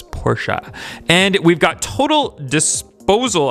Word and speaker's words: Porsche: that and the 96 Porsche Carrera or Porsche Carrera however you guys want to pronounce it at the proper way though is Porsche and we've got total